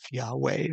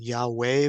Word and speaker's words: Yahweh: how this is pronounced we do understand that the first two uh consonants the yod and the he are pronounced as yah and that is substantiated by all the words that we have in Hebrew that end with yah like huah Elijah adonijah